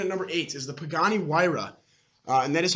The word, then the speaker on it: Pagani Huayra: eight coming in at number eight is the Pagani Huayra and that is how you pronounce it so now it pretty knows because I know none of you knew how to pronounce it before Pagani Huayra I'd say twin-turbo 600 v12 if I'm not